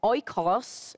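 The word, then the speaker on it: oikos: family in scripture is spelt o i k o s oi cos is a greek word means household means family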